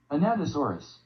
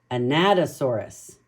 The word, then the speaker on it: Anatosaurus: oh here we go anatosaurus anatosaurus so we have to pretend like we're talking about a Nat you know what a